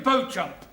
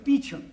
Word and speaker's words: Beauchamp: Beauchamp. Calling Mr. Beauchamp. Mr. Beauchamp has been employed by the following firm. It's pronounced Beecham.